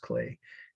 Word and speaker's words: Klee: The next must know, clay. I know it looks like Klee, but it's German, so it's pronounced clay.